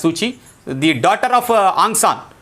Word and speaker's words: Suu Kyi: It was around this time that Aung San Suu Kyi, okay, we pronounce it as Suchi, the daughter of Aung San, has come into began to fight for the reforms in Burma.